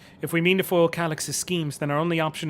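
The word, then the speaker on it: Calyx: I said Calix.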